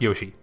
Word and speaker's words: Yaoshi: It's actually, even though it's spelled Yaoshi, it's pronounced Yoshi.